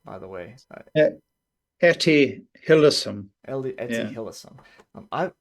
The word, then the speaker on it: Hillesum: How do you pronounce her name, by the way? Etty Hillesum.